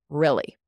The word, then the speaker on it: really: we're speaking quite quickly, really. Really. It sounds like a light I sound, a short I sound.